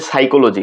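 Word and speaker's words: psychology: এ pneumonia তারপর হচ্ছে সাইকোলজি সাইকোলজি যখন বানান করবো তখনও আমরা পি উজ্জ্ব রাখবো তাহলে প্রথমে এস ওয়াই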